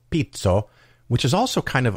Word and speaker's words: Pizzo: And the city of Pizzo, which is spelled like pizza with an O instead of an A, Pizzo, they have a famous ice cream called Tartufo, and Tartufo generally means truffle.